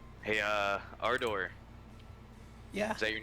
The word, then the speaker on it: Ardor: at our door and he's like hey uh our door yeah is that your name am I saying